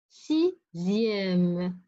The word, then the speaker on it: sixième: Après, X qui se prononce Z comme sixième, dixième, deuxième.